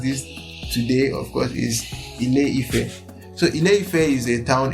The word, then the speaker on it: Ile-Ife: Anyways, and how it's pronounced this today, of course, is Ile-Ife.